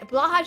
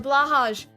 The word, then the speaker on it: Blåhaj: A Blåhaj. The blå in Blåhaj, it's technically pronounced Blåhaj, but we will be saying Blåhaj because it's cuter.